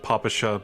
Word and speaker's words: Papasha: I know it's supposed to be pronounced Papasha, but please let me retain what little dignity I have left.